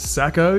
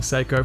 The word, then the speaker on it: Sako: Now I know it's pronounced Sako in Finland, but I've been saying Sako for the last 10 years here in Australia, so it's a little too late for me to start changing.